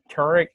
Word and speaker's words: Tarek: That's Tarek, whatever your name is, Dylan. Forget. Tarek. Yeah, it's pronounced like turmeric.